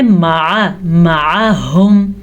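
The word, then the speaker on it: معهم: معہم، مصدق لما معہم، عین کی طرف تلفظ کا دھیان رکھنا ہے، معہم نہیں پڑھنا، ہم نے پڑھنا ہے معہم، معہم۔ نبذ، نبذ فریق من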